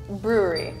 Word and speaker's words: brewery: it's right it's right Brewery it's kind of like the word rural where you blend the second r with the w so it's it's very